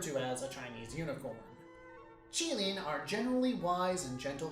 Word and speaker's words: Qilin: The Chinese pronunciation is more like Qilin.